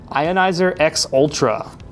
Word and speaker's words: Ionizer X Ultra: I did learn from main deck that you're supposed to pronounce the you're supposed to say the X when you're reading the name like it's like a treat it like a model number.